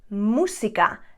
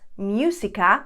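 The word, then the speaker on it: música: as in musica the biggest mistake when you are pronouncing the u in spanish is that you go for you the english sound and that's not right for example this word would be musica not musica which i hear many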